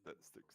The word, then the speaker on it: Styx: That's actually maybe Styx. That's how it's pronounced. River of Styx and the Temple of Styx. We're not talking about wood sticks.